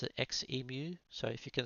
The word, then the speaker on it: Xemu: that I always say Zu instead of XMU. So I thought I'd explain my reason behind that. Coming from Australia here we're accustomed to pronouncing lots of X words with the sound zed.